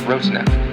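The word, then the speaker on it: Rotanev: The brightest star in Delphinus is pronounced Roteneb.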